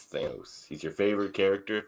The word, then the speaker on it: Thanos: I'm gonna pick Like since we're talking about pronunciations, it's Thanos, not Thanos, Andre. It's Thanos.